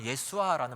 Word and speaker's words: 예수아: 우리말은 예수라고 번역을 했지만 히브리 원어의 더 정확한 발음은 예수아라는 말입니다. 예수아.